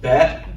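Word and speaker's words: בית: And then we've learned the bet, the second letter, and it is pronounced like the letter B.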